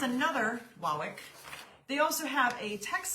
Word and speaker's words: Wawak: So, Amy, you've been saying it wrong. We all have, because I was like, could it be Wawak? No, it's Wawak. It's Wawak.